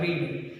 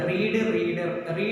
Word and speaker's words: read: റീഡ്. റീഡിനൊരു പ്രത്യേകത ഉണ്ട്. റീഡ്, റെഡ്. മൂന്നിനും സ്പെല്ലിംഗ് ഒന്നാണ്, പക്ഷെ ഉച്ചാരണ വ്യത്യാസമുണ്ട്.